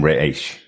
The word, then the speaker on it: Ra's al Ghul: A really weird phrase in which he uses, but yeah, Bruce calls him Raish. That's how he pronounces Ra's al Ghul. It's Raish.